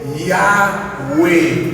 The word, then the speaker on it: Yahweh: Nous ajoutons deux voyelles là-dedans, A avec E. Qui nous va? Nous va attendre quoi? Yes. A avec E, qui va être prononcé Yahweh.